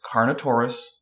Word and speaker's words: Carnotaurus: Do not insert new syllables into a word. It's Carnotaurus.